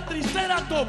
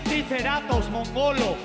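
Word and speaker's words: tricerátops: No, por eso es que ahora mismo yo te mato modo clásico en vestida de tricérat y su cerebro es un terodátilo. Se dice triceratos Aprende a pronunciar en este coro.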